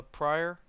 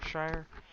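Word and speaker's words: Shirer: Um, I always say her name wrong. T.D. Jakes' daughter, Priscilla Pryor. Shire? Shire.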